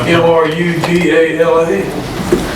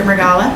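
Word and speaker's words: Mrugala: have to helpit me is it m r u g a l a I want to see what you say give it a world oh wow Mr uh Gala yes my my favorite mispronunciation is Mr ugala that you're all righty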